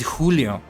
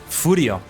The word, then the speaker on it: Julio: However, they could never pronounce it Julio. They have to pronounce Furio.